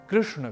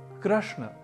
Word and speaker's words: कृष्ण: का अनुकरण करते हुए योग को योगा की तरह कृष्ण को कृष्णा यह उच्चारण नहीं करना क्योंकि कृष्ण तो पुल्लिंग शब्द है जबकि कृष्णा स्त्रीलिंग अर्थात कृष्ण देवकी नंदन